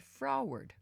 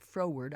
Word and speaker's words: froward: Some of you might pronounce it froward, I don't know, but I call it froward.